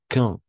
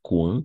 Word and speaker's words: quand: Quand, no es cuando, sino quand, d'accord? La U non se prononce.